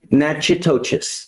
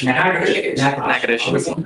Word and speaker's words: Natchitoches: I butchered the pronunciation, but Natchitoches. What is it? Natchitoches. That.